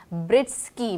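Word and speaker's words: Breetzke: हाँ जी, मैथ्यू, नाम मुझे ठीक से प्रोनाउंस नहीं करना आ रहा अभी तक उनका, ब्रिस्की मेरे ख्याल से, ब्रिस्के कुछ इस तरह करके प्रोनाउंसिएशन है।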